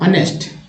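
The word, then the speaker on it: honest: रहा तो 1, जैसे ऑनेस्ट, ऑनेस्ट एच लग जाता था क्या होता है ऑनेस्ट, एच तो साइलेंट ही होता है, एच तो साइलेंट ही होता है ना, तो ऑनरी हो गया ये, ऑनेस्ट हो गया ये।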